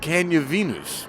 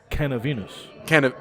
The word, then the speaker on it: Canna Venus: I think it's Canna Venus. So what am I saying? Like cannabis and then Venus. So what am I saying, though? You say like, can you Venus?